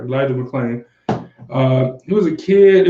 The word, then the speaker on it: Elijah McClain: Elijah McCain. Sorry, no, McClain. I said it right. Elijah McClain.